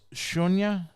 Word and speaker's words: Sunya: So what the pronunciation is? It's Shunya. Yes.